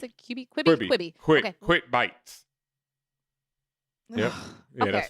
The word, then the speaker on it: Quibi: you pronounce it? Quibi.